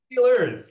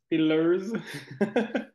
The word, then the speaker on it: Steers: angones to pronounce steers it's not Steelers there's a uses in there still loses steers so congrats congrats all